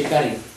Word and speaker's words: cade: già le altre volte, il rotacismo della D, per cui lo pronunciamo R invece di D, si scrive Cade, ma si scrive Care, si legge Care, oppure Cade pure, naturalmente